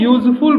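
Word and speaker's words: useful: लिखा है यूजफुल book यहां भी देखो यू से शुरू हुआ है ये वर्ड बट वावेल लेटर है बट इसका साउंड आ रहा है यू य कंसोनेंट साउंड होने के कारण इसके पहले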